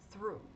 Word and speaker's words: through: O EW tem som de U, então é a mesma pronúncia, through.